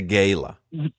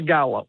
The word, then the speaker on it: gala: Whether we're going to call it a gayla or a gala, we we've had this controversy as well on this show because Crowder laughs like an 11year-old boy when I say Gayla and and but that's the way I pronounce it.